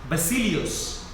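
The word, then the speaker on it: Vasileios: know, V and B, what is written today with a V is actually pronounced with a B. Basilios, for example, is actually written with a V.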